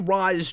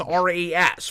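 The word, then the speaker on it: Ra's: of animated series and it was apparently supposed to be pronounced Roz in the first place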